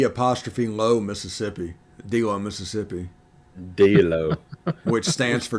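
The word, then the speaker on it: D'Lo: D-Low, Mississippi.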